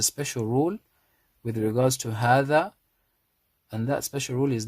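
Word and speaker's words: هذا: says ha, dha, hadha, hadha. But because of that rule, we say hadha. What's the rule? The rule is there is an alif after the ha which is pronounced but not written.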